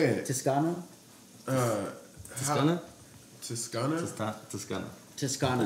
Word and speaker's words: Zuppa Toscana: Toscano? Toscana? Toscana. Zuppa Toscana.